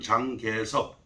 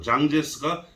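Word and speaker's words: 蔣介石: 그리고 이 중 가장 힘 있는 군벌이 바로 우리가 잘 아는 우리나라 발음으로는 장개석, 그리고 중국어 발음으로 장제스가 되겠습니다.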